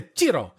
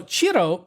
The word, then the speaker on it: Cirò: back to chiro because this short word only has four letters but two syllables and so it's a little bit weird to pronounce I had to look it up but is it it's like Cheeto it's like saying the word Cheeto like you know those